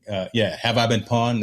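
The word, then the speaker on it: Have I Been Pwned: I think, Have I Been Pawned? That it doesn't, it's spelled weird, PWNED, but that actually is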